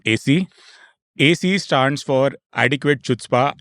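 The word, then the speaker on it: chutzpah: AC stands for adequate chutzpa it's pronounced something else I just got to know froma it's called hoah but of course I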